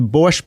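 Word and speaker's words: borscht: to the website the borch belt Comedy Festival borch is spelled b o r s c HT borch belt Comedy Festival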